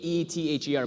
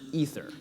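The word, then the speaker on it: Aether: to get it right it's written a e t h e r but it's pronounced ether it is ether we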